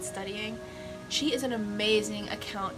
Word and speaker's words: StudyIGN: That's how her username is spelled, but I think she pronounces it studying.